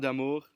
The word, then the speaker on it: D'Amours: D'Amours. Hey, thanks for pronouncing it in French.